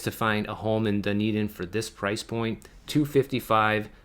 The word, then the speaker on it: Dunedin: st george island all the way down to dunedin florida and yeah look i said it right